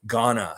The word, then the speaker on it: Ghana: Ghana. Yes, I knew it was just like the country, the last part.